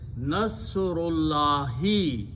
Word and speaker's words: Nasrullahi: And then you pronounce them together, then you do not pronounce the alif. So when you do not pronounce, remove this thing. So the word is Nasrullahi.